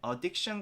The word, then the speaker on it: addiction: 중독은 addiction이라고 하는데, 여기서 또 주의해야 될 게 addiction 같은 경우도 강세는 중간에 있어요. 그래서 addiction이 아니라 addiction이라고 해주는 거죠.